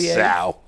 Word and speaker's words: Rousseau: Rousseau. That's how you pronounce it.